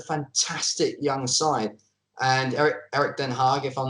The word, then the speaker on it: Den Haag: this is a fantastic young sight and parrot Den Haag if I'm not mistaken that's how you pronounce it he's a really good coach for